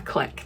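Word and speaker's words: clique: everyone around me seems to call it a click now. I grew up c I l Q U E as being pronounced click, like a click of people, like they're in such a little click.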